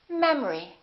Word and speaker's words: memory: The second syllable is reduced. The first syllable is stressed. We don't say memory, we say memory. Repeat after me. Memory.